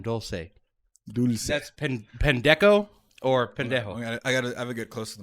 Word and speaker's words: pendejo: Yeah, but Deco, because I'm white, makes it funnier because I'm mispronouncing a slur. Also, pendejo is It's pendejo.